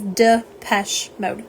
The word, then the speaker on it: Depeche Mode: Depeche, which I can't, you can't say it that way. It won't work. So it is Depeche Mode.